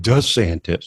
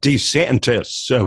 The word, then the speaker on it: DeSantis: our Great American comeback most notable to actually was the way he pronounced his own name nobody has called him d santis he's always been called DeSantis is this one of